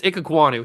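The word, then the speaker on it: Ikegwuonu: I guess we call him Icky or Emeka Icky. I don't know. But it's Ikegwonu.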